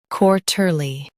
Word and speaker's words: quarterly: Quarterly, quarterly. Emphasize quar and keep ter light.